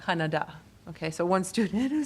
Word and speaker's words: Kannada: Kannada. Kannada.